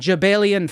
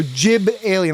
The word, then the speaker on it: Jibelian: Jabelian fudge. J I B. So Jib alien like the like a jib sale.